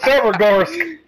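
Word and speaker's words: Severogorsk: You totally butchered that. We're going to Severgorsk.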